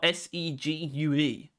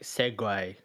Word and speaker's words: segue: told you about this it's spelled s e g u e wait Su u e so it's like segue segue like yeah it's just